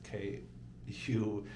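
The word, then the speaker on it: Kühl: nice rain jacket from Cole, and then I have rain pants the same way. I don't know if it's Cole. It's Kuhl.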